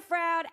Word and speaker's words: Froud: I'm going with Froud. Okay. Rhymes with cloud.